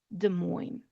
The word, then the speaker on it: Des Moines: Des Moines. No S sound at the end.